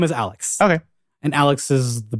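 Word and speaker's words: Alyx: the island for a licks lyx is how it's spelled but her name is Alex okay and Alex is the best she's a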